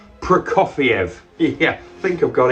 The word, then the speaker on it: Prokofiev: it's sir guy prokoviev i was saying it wrong for the first couple of days but now i'm pretty sure it's prokofiev prokofiev let's say it together one more time prokofiev yeah i think i've